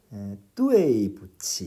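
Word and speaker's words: 对不起: 근데 이 경우는 단어의 뒤에 와 있으니까 재성조 발음을 다 해주는 거죠. 그래서 이제 그 발음을 이제 해보면은 뚜에이 부치 이렇게 됩니다.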